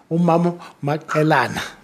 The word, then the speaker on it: Mamisto Maqelena: Mamisto, Mamisto Maqelena.